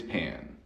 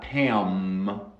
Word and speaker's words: pan: Y piense muy bien, no cierro los labios. Pan. Pan. Not Pam. Pam. No.